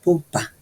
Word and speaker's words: Bodpa: Los habitantes se llaman entre ellos mismos Bodpa, que se pronuncia Bopa.